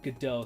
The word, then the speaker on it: Godot: It's been a while since I've built anything in Godot. That's how I'm pronouncing it. It's been a while since I've built anything in Godot, so I'm kind of